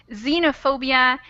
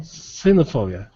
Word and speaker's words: xenophobia: go to show that sometimes it makes a z sound but if you're curious the pronunciation is xenophobia and xylophone xylophone xenophobia exactly thank you all right